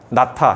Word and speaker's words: 낳다: 나타, 히읗 발음 밑에 히읗 받침.